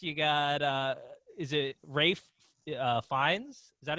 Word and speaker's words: Fiennes: You got is it Rafe Fiennes?